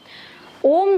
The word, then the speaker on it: ओम: असल में ओम कोई एक स्वर नहीं है, ये 3 स्वर का संगम है। अ, उ और म, इन 3 स्वरों को एक साथ मिला के ये ओम स्वर बनता है।